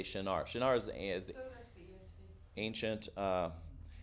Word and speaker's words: Shinar: a translation of a word that usually is pronounced Shinar, and that's like if you have a King James Bible, it'll say Shinar.